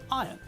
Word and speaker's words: iron: people no you're wrong there is an R in the word iron but when we pronounce the word correctly then we pronounce it as iron when Jeremy Irons wants